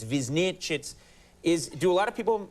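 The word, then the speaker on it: Višnjić: It's a tongue twister, you know, but I decided to put it like it's written in my language, and I know people would mispronounce it, you know, but Visnjic is pretty close. Visnjic.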